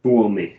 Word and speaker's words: Tuomi: Ville Tuomi. Or Toomey. I don't know how to say that name. So I recognize that name, but I don't know. Tuomi. That's how you pronounce the surname.